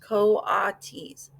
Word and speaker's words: coatis: Brisbane said, reading from the letter, pronounced coatis.